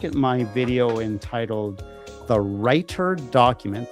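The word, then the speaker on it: Reiter: Take a look at my video entitled The Writer Document. That writer is spelled R E I T E R.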